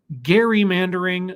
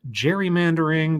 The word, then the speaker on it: gerrymandering: about gary mandering and it is gary mandering not gerrymandering because the guy's pronunciation of his last name was actually gary not jerry because i'm a smart